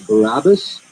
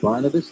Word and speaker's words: Barabbas: It was the guy's name was Barabbas, not Barnabas. That was my mistake. His name was Barabbas. The man that was Barabbas. So I'm not pronouncing it correctly.